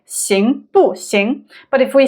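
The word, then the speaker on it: 行不行: For instance, if we say 行不行, if we say it very slowly, then it's 不, right? 行不行.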